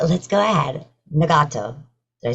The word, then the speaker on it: Nagato: Nagato. Did I say that right? Nagato. Very close. Nagato.